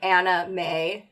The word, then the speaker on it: Anna May: Right, and not being like, hey guys, make sure that you pronounce her name Anna May so that it doesn't sound like you're just saying anime.